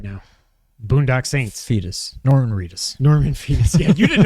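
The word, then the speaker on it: Reedus: Norman Reus. Norman Fetus. Yeah. You didn't know either. You're like, it rhymes with fetus.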